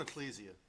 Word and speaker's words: Ecclesia: So the um first one would be to Excelsia. Hope I pronounced that right. Um living waters ministry. How'd you say it? Excelsia. I'm going Ecclesia. It looks like Ecclesiastes.